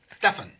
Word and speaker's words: Stefan: Pronounced it right, Stefan? Stefan. Yeah, that's right.